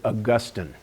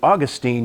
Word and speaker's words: Augustine: You can also pronounce it Augustine. Doesn't make any difference. What it does tell you is the background of the person pronouncing it. If you pronounce it Augustine, you likely grew up in high church environment, Anglican, Episcopalian, Catholic. If you pronounce it Augustine, you likely grew up in a low church environment, Baptist, Methodist, Wesleyan, whatever.